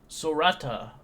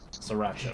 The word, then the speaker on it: Sriracha: As he looks at you, I am Sorata. Or sorry, I'm not saying it right. Sorata. All right, now let me see how to pronounce his name. My apologies. Sriracha. Sriracha. My name is Sriracha.